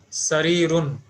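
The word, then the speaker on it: سرير: We have to pronounce this as haza, and this word is having Sheen. fatha on seen, kasra on ra, and sukun on ya, and tanween at the end. Means it will be pronounced as sarirun.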